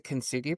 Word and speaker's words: Kintsugi: So I know we had talked before about this forgive me if I'm pronouncing it wrong. It's the Kintsugi principle.